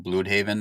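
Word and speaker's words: Blüdhaven: I think they changed the pronunciation. It used to be called Bloodhaven, and they put the little Okay. umlaut above the U, so it's like Bloodhaven now.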